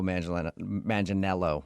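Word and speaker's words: Manganiello: Uh, because we talked to him and he told us that a lot of people say he looks like Joe Mangel Manelo.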